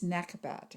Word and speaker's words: Nekhbet: associated with the sign virgo her name is nekobat and that is spelled n-e-k-h-b-e-t she is the vulture goddess of